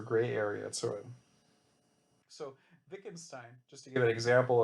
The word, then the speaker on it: Wittgenstein: It has a W in front, but it's pronounced like a V. So Leibniz and Wittgenstein, their goal was to kind of solve this problem by crafting the perfect language.